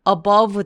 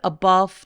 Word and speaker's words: above: high above the clouds above the 아니고요 렇게가 자음 앞에서의 V 소리가 날 때에는 가볍게 약간 F 럼 처리해서 그런데 완전히는 아니에요 가볍게 맨 끝 소리를 above the above the above the 이렇게 가볍게 바람소리를 내주세요 high above the clouds